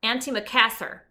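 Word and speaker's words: antimacassar: me show you guys here's how you say it sir auntie Macassar never heard of it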